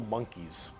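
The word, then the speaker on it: Mon'keigh: Why is it called Monkai? Well, it's because you can't, in your game, call people monkeys. On the tabletop, the worst part is the correct pronunciation is monkey.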